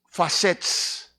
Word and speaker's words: facets: These are the different facets. Some of you who are learning English, facets is face plus T and S, facets. It's pronounced, di pwede na nato i-pronounce of face, facets.